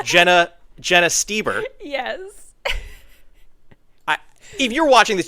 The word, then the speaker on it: Jenna Stoeber: I know it is spelled weird, but it's Jenna Stoeber.